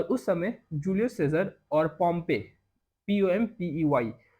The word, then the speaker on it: Pompey: और उस समय जूलियस सीजर और पॉम्पे, POMPEY, तो ये दोनों स्पेलिंग आप लिख लीजिए।